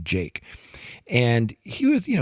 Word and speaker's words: JVKE: this artist jake and it's jvke but it's pronounced jake and he was you know he did a